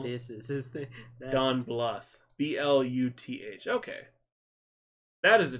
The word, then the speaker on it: Bluth: He's an old man, but pronounced Bluth.